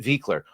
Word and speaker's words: Buechler: Pop culture critic Gary Buechler. It says Buechler, but I know he pronounces it Viekler.